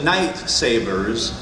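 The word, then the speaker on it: Knight Sabers: tonic screwdrivers it's the night Sabers which rhymes with lightsabers so there you go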